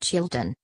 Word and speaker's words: Xilton: British farmers are even producing Xilton, pronounced Chilton, the Galician old ducks or dairy beef that foodies go wild for.